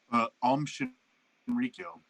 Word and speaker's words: Shinrikyo: I want to pronounce this correctly. What is it? Shin. What's the cult's name? I'm sorry. Shinrikyo.